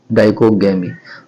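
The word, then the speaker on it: dichogamy: करता हूँ, लिखता हूँ तो DICHO डाइको GAMY डाइकोगैमी। आप इसको गूगल पे भी सर्च कर सकते हैं, डाइकोगैमी स्पेलिंग बोल दिया DICHO डाइको GAMY डाइकोगैमी।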